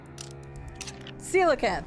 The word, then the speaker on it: Coelacanth: I don't remember how to pronounce that, though. So I'm not even going to try. Coelacanth. Coelacanth? I don't remember. Coelacanth, that's what it is.